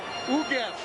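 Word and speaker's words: Ugueth: How do you pronounce that first name? I keep on messing it up. Ugev.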